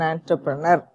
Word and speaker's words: entrepreneur: So, we have to pronounce it as entrepreneur, not entrepreneur. Ant, A-N-T, that is the pronunciation.